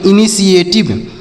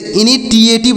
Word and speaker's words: initiative: वा, तो इसे पढ़ेंगे इनिशिएटिव। क्या पढ़ेंगे इसे इनिशिएटिव, इसे इनिटिएटिव नहीं पढ़ना है, टी से ट भी होता है, टी से 100 भी होता है, तो यहाँ पर ऐसे इसे पढ़ा जाएगा।